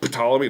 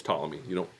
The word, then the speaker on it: Ptolemy: When I first saw it, I'm like, Ptolemy? No, it's Ptolemy. The P is silent, apparently.